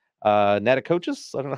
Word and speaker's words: Natchitoches: I believe it's Natachitoches. I don't know how you pronounce that. Natchitoches.